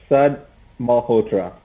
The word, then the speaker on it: Sud Malhotra: So, Sud Malhotra.